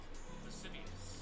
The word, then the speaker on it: lascivious: no hold Let me how is this pronounced? Lascivious. Lasciviously.